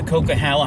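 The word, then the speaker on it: Coquihalla: getting stuck in the coca-hala highway and yes that's how it's pronounced the coca-hala whatever they uh whatever the producers might have used is a little bit different but so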